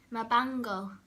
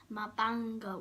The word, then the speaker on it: mabango: And if you smell something nice, you can say mabango. Mabango. Remember mango, but with a ban in the middle of it.